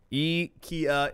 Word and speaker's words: IKEA: that were pronouncing incorrectly IKEA is what I say I think what most people say here in the United States of America IKEA apparently that is incorrect and then how do they say it in Portugal yeah II Kia is correct Juiz - ka y